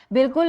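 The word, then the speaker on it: بالکل: बिल्कुल इस तरह लिखना चाहिए, आवाज़ अलिफ की साइलेंट है इसमें।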